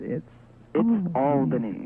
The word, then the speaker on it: Albany: It's not Albany, is it? It's Albany.